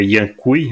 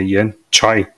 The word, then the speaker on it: Yan Cui: o nome dele né Eu sempre falava Yan cui né mas é Yan choy Yan choy então foi já aprendi